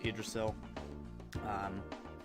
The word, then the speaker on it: Yggdrasil: Okay, I got her with Magus and reused with Yggdrasil, or Yggdrasil, sorry. I've said Yggdrasil since I was a kid, but then over the years I learned it was Yggdrasil.